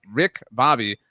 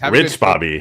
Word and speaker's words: Rich Bobby: But Rick Bobby, CU says, Rich Bobby. Rich Bobby. It's always in my head. Lives rent free in my head the way the Cowboys Look at his name. Look how it's spelled. R-I-C-H.